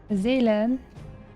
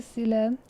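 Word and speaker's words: Seele: ah I just noticed I finally managed to pronounce the name as the game wants me to because um zalen is it the German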